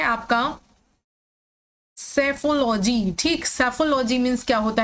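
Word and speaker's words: psephology: ना कि यहाँ पर हम इसका सही प्रोनाउंसिएशन तो जान ही रहे हैं कि हम इसे साइकोलॉजी और इसे सेफोलॉजी बोलते हैं, लेकिन आप इसे सेफोलॉजी नहीं लर्न करेंगे। आप इसको हमेशा, जैसे मैंने पहले ही बोला, पसेफोलॉजी ऐसे पढ़ेंगे, पसेफोलॉजी।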